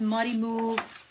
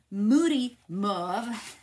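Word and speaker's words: Mossy Meadow: petal pink it has muddy move Moody mve I said I always say it wrong Moody not muddy Moody mve look at those papers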